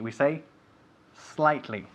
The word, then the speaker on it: slightly: never pronounced s okay we don't say espain we say spain we don't say it slightly we say slightly so spain is slightly